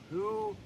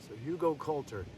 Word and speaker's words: Hugelkultur: I finally learned the pronunciation. Hugelkultur. So Hugelkultur.